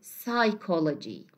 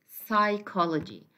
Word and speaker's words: psychology: We have psychology. Okay. As you see, that the pa sound here is silent because it's followed by S. So we say psychology, psychology.